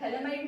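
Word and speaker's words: phthalimide: थैलेमाइड में pH silent होता है, थैलेमाइड बोलते हैं, ठीक है।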